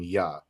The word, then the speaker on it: Yah: to his name as Jah, right? And when you're dealing with ancient Paleo Hebrew, right, the letter J literally goes into the pronunciation of Y, which is why we call him Yah.